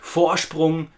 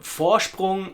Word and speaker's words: Vorsprung: The V sound at the beginning of the word Vorsprung is another reminder of what we have already learned, that the V sound in German is more like an English F, but also listen to the S sound in there.